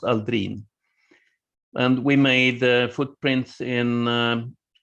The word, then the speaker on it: Aldrin: he is obviously swedish descendant it should be pronounced aldrin and we made footprints in lunar soil